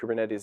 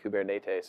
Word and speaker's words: Kubernetes: it wrong it's some I think if you're actually Greek you pronounce it something like kubernetes or something like that but it's our fault